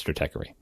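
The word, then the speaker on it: Stratechery: same situation I believe the original logo had a had a bar over the E to try to tell you what a long e say Strater right that's correct but that didn't work and the public has spoken and now the creator of that site says Strater truth sorry Ben Thompson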